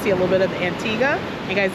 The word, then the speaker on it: Antigua: Um yeah, and get to see a little bit of Antigga. And guys, it is pronounced Antigga, not Antigua.